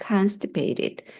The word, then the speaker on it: constipated: 그다음 변비가 있어요 할 때 I'm constipated 앞에 강세 두셔야죠.